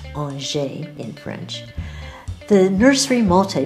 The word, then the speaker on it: Angers: located near RJ Franz the city's pronounced on shave in French the nursery multi vague is a